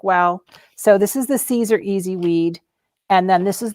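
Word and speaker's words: Siser: easyweed and it's um it looks like it's scissor but it's pronounced caesar okay and it is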